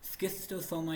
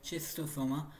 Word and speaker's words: Schistosoma: एंड इट is about स्किस्टोसोमा या फिर चेस्टोसोमा। तो जैसे भी आप प्रोनाउंसिएशन करना चाहो आपकी मर्जी है।